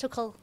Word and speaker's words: Tuchel: Is Tuchel the right man to lead England despite his nationality? Let us know on the comment section below. All right. Speaking of former Thomas Tuchel.